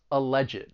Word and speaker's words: alleged: an alleged killer and now you can hear the three syllables alleged see if you can